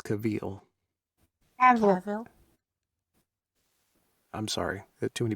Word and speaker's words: Cavill: do you say it cheryl she thinks it's kaveel i'm sorry there's too many people talking to once what say it again i will i can't understand lissa's floridian accent caval cavil all right thank you henry cavill kyle sorry